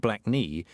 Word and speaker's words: Blakey: Because when your given name is Percy Blakey, pronounced black knee, and you're still battling